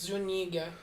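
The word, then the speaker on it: Zúñiga: Is it because that's an Enye, not an umlaut, right? Yeah. It's Zuniga. Yeah, it's just that's a weird.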